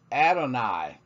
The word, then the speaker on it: Adonai: marks we see that this representation of your hey wha hey is intended to be pronounced Adonai Adonai Adonai is often translated